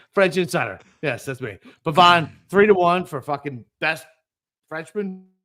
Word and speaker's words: Pavon: It's Pavon. Pavon. I don't give a fuck. It's Pavon. Pavon. So he gave out the best Frenchman. All right. French insider, Boston Capper. Yeah, French insider. Yes, that's me. Pavon 3-1 for fucking best Frenchman.